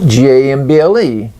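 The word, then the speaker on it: gambol: Okay, what is the difference in the 2 words gamble, G-A-M-B-L-E, and gamble, G-A-M-B-O-L? 2 words, pronounced the same way.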